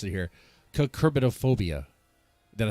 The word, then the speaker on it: Cucurbitophobia: it is a project a Kirk I'm gonna mispronounce it here kerbitophobia did I say right you got it no